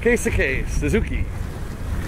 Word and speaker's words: Keisuke Suzuki: Keisuke Suzuki.